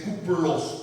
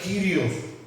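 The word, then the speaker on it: κύριος: Ahí está escrito en el verdadero griego, miren que dice kuplos, parece que era kuplos, pero se pronuncia Kyrios.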